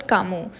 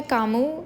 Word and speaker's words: Camus: author that is एल्बर्ट कामू तो इनका जो सरनेम है कामू इसमें एस जो है वह साइलेंट है इसीलिए अल्बर्ट कामू सो ही वाज अ